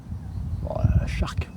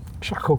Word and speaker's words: Charcot: Shark. Shark. Glacier de Shark. Tu dis quoi toi? Charcot. Voilà, bien.